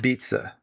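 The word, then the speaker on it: apizza: Um but it apparently it's pronounced beats-a.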